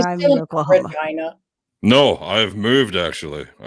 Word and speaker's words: Regina: Yeah, I mean, That's the city that rhymes with fun, isn't it? So that's what every touring musician ever would open their set saying when they play our town. Regina.